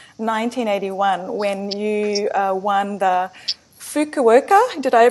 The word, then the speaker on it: Fukuoka: Hey, you first came to international attention, I believe, in 1981 when you won the Fukuoka. Did I pronounce that right?